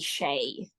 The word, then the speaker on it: Sheehy: parent homes it's Irish but apparently the Irish pronunciation would be shade so if you ask